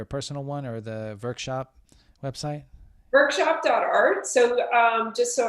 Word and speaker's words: VVrkshop: Is there a personal one or the VVrkshop website? VVrkshop.art. So just so everybody knows how that's spelled, it's a little tricky. It's VV. So the V's form a W, VVrkshop.art.